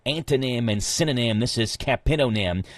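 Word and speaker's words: capitonym: So, who knows if I'm saying it right or not, but a capidonm is a capidonm sounds like some some kind of word.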